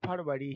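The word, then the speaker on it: February: यू ए आर वा वैसे तो इसे फवरी पढ़ेंगे लेकिन आप फरवरी ही याद रखिए स्पेलिंग आपको आना चाहिए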